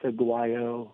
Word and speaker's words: Aguayo: Yeah, Aguaya. Wait a second. Maybe the coach knows. Coach, how to pronounce Aguaya? I believe it's Aguayo.